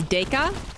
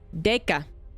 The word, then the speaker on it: Déca: out of my chair it's DACA thank you Legend being a legend coming in and finally correcting my pronunciation I did offer the